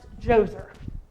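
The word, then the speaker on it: Djoser: sound familiar Pharaoh joser has a D in front of it but it's pronounced joser and it describes a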